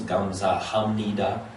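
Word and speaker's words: 감사합니다: is actually five syllables it sounds like four gum some need uh because it slurs together um this is not the best example because the way you'll see it written is not necessarily the way you'll hear it because it does just all squish together so it's actually five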